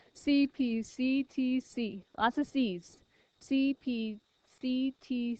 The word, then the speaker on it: CPCTC: top of your paper cpct TC CPT C did it wrong I said it wrong CP CTC lots of C's CP